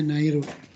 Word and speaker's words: ナイル: ナイル川、 Nairu Gawa ya, dibacanya Nairu.